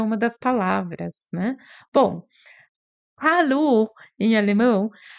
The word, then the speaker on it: Hallo: Bom, hallo em alemão, hallo, o H tem esse som de ah, como se a gente estivesse embaçando um vidro. Hallo. Sabe quando faz um desenho assim, embaça o vidro para desenhar? Esse é o som do H em alemão.